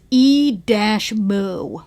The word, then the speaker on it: E-mu: It's spelled like E. Yeah, it's E-moo. M U emu emulator.